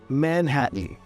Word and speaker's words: Manhattan: also say curtain curtain Mountain Mountain men happen Manhattan and the same thing happens with names for